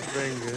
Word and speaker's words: Wengen: the funniest thing is we're all showing off here, pronouncing our W's as V's, but when the programme